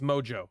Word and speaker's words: Mojo Nixon: I have not heard of Moho Nixon. I will now look up. Well, I can't do it on stream. Pronounce Mojo. Oh, okay. Mojo Nixon.